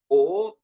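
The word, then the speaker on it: υ: Tapi kalau pengucapannya ee untuk Y ini kita seperti mengucapkan O tapi keluar I. Y, O Y gitu seperti itu ya. Y gitu. Jadi, Oi, keluar I Y gitu ya.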